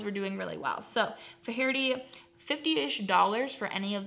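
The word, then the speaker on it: Faherty: definitely want to know Monclair number 29 is feri I'm so bad at pronouncing some of these but f a h e r t y feri feri this brand you're looking at jackets pullovers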